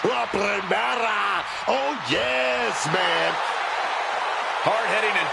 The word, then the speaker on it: La Primera: La Primera, Stephanie Vaquer. You need to roll your R's a little bit on that, man. La Primera.